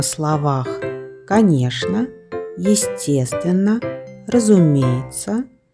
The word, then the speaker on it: конечно: Мы обычно говорим «конечно». Произносим «конечно».